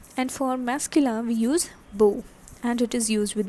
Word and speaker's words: beau: How is it pronounced? Beau.